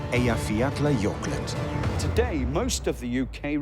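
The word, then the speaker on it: Eyjafjallajökull: a volcano with a hard to pronounce and even harder to spell name that in 2010 reminded everyone that mother nature is truly the boss it's called a yafiatla yorkland today most of the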